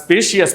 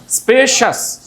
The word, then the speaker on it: spacious: সো প্রেশাস, প্রেশাস, ambitious, ambitious, suspicious, conscious, conscious, ferocious, gracious, gracious, vicious, vicious, আবার vicious, vicious, cautious, cautious, cautious, spacious, না স্পেশিয়াস বলবেন কোনটা? স্পেশাস, স্পেশাস।